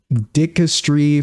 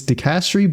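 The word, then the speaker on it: Dicastery: no the name dicastri it's dicastri but I put emphasis on the D instead of the the C so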